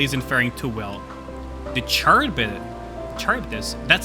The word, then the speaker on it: Charybdis: Okay, Charybdis. That's how you pronounce that.